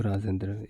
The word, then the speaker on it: राजेंद्र: ठीक है, वैसे हम जो है सेंटेंस सॉरी जब हम इसका प्रोनाउंसिएशन करते हैं इसमें क्या आता है, द र रा, तो रा पे जोर देते हैं तो यहाँ पे ए का यूज़ हम करते हैं। तो राजेंद्र, इस चीज़ को आप याद रखिए।